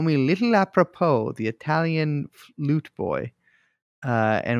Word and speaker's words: apropos: Apropos? A professional's professional. I mean, it means appropriate, but why am I saying apropos? I don't. That's how you say it, apropos.